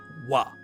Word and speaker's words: は: So the wa particle is known as the topic marker, and it's written as ha but pronounced as wa.